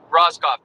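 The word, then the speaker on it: Rohskopf: Roskoff.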